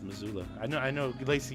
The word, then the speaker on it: Missoula: it is the way it's spelled but it's pronounced missoula i know i know lacy you've seen that